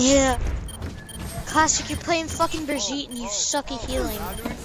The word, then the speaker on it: Brigitte: It's pronounced Brigitte. It's pronounced Brigitte. I think it's like Brigitte. It's pronounced Jeff from the Overwatch team, and it's actually pronounced Brigitte.